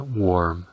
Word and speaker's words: warm: el clima está templado usando la palabra warm, cuya correcta pronunciación depende de que la letra A suene en realidad como una O.